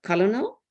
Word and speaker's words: colonel: It's pronounced just exactly like Kernel.